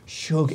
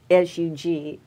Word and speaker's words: Shug: in the role of Shug Avery. Avery. Yeah, and people spell it S-U-G. Yes. Like, it comes out like Sug, but I know what they're talking about.